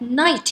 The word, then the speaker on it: knight: For example, in the past for this word, we might pronounce it as knight. So the K sound is not disappear. But nowadays we pronounce it as night without the appearance of the K sound.